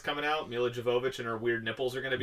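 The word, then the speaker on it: Milla Jovovich: Mila Jovovich and her weird nipples are going to be Mila in it.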